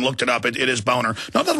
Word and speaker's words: Boehner: How do you spell Boehner? Let me give it to you right here. John Boehner scam, but he pronounces it Boehner, which I've talked to Germans and looked it up.